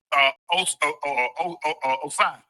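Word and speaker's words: Ossai: Osai. Yeah, that's how you pronounce his name.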